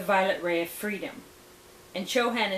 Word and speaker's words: Chohan: ray of freedom and chohan is spelled c-h-o-h-a-n chohan of the seventh